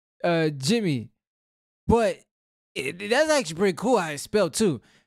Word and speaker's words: DgyMie: I said it completely wrong, but I see why it's called Jimmy. But that's actually pretty cool how it's spelled too.